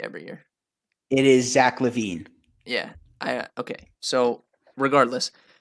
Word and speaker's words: LaVine: have this debate every year it is Zack LaVine yeah I okay so regardless who do you